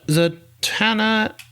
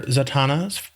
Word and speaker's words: Zatanna: So Zatanna, I've always called her Zatanna for some reason. And the name of our file for this episode is ZAT-ANNA. Zatanna.